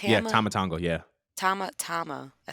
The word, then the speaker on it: Tama Tonga: Tama Tonga, yeah.